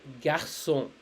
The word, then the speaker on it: garçon: Over here it's spelled as sa. Not sha, it's spelled as sa. Okay, it's called garçon, garçon.